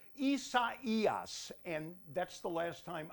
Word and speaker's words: Isaias: let's take a look but first uh let's pronounce it i thought it would be isaias but i could not be any more wrong the hurricane center says it is pronounced isa eos and that's the last time i'm going to